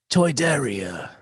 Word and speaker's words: Toydaria: It's pronounced Toydaria.